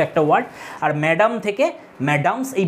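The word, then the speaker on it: Mesdames: দেখে তো মনে হচ্ছে মেসডেমস উচ্চারণ হবে কিন্তু মেসডেমস উচ্চারণ করি না আমরা ম্যাডামস উচ্চারণ করি এটাকে ম্যাডাম ফ্রেঞ্চ এই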